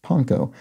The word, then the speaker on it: panko: a reply here says, though commonly pronounced panko, it is more properly pronounced panko.